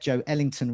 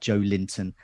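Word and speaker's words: Joelinton: only show to get joe ellington right it's joe ellington not joe linton as everyone else is saying especially on match of the day so we'll do our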